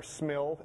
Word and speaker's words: SMIL: SVG and Smile or Smil. Everyone says it's supposed to be pronounced Smile, but I think it should be pronounced Smil.